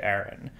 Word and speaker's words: Aaron: are men, and they both have a name that's spelled A-A-R-O-N because they are from different places. One of them is named Erin, and the other is named Erin.